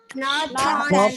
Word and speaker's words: north: North and south. South. North and south. Not and south. रॉ ना बोले आप इसमें, नॉर्थ में नॉर्थ बोले, North. North. and मतलब है कि आर को बोलेंगे नहीं, नॉर्थ एंड North and south.